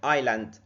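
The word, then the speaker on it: island: عندنا كلمه زي كلمه ايلاند ايلاند ذا اس از سايلنت ايلاند اييلاند الاس هنا ما بتتنطقش ايلاند يعني ايه ايلاند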